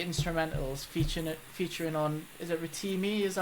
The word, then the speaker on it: Rotimi: is like your instrumentals featuring on, is it Rotimi? Is that how you pronounce it? Rotimi, yeah.